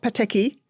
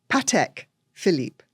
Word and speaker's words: Patek Philippe: you can answer this is how do you pronounce pek Philip well it's not peki it's not petique it's Patek Philip there we go you heard it here pek